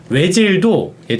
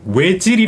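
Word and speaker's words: Özil: 가장 높습니다 아네 맞아요 외질도끼 그라미 다가 이거 아침 먹고 땡기잖아요네 라운트 들어가죠 예 그래서 그렇죠 저희가 왜라고 고 쓰기는 하지만 외질이 쓰기는 하지만 전혀 외에 가까운 소리가 아니거든요 약간 오이와 외 사이에 오이칠 이게 이제 워어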